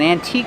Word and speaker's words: antique: We found an antique store. They sell antiques. Remember the e is silent. We don't say antiques. We say antique.